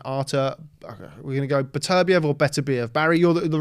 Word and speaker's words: Beterbiev: naturally to them, because we put stresses on different syllables in English, and generally speaking, without getting too technical, we're an anti-penultimate language, so we'll put the stress on the third from end. So Beterbiev is what we would say when we look at that word.